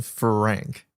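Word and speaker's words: Thranque: The cube has a name Frank. The way it's spelled is so funny to me. T H R A N Q U E To me, it was too much at once.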